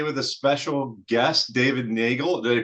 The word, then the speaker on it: Neagle: We're back here again today with a special guest, David Nagel. Did I pronounce that right, David? Yeah. Nagel like Bagel.